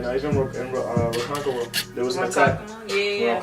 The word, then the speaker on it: Ronkonkoma: Even in Ronkonkoma. There was an attack. Yeah. Oh, that's how you pronounce it, Ronkonkoma.